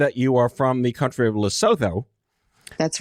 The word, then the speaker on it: Lesotho: grew up in lusitude is that the correct pronunciation Lesotho yes it's like now we know how to